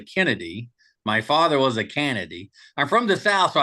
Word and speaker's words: Canady: uh so I we I go by canedy like Canada but with a Y but here's the interesting thing my mother was a Kennedy my father was a canedy I'm from the south